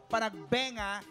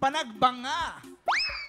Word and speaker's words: Panagbenga: And second of all, it's not pronounced as panagbenga, it's panagbanga. You should know your festival, girl.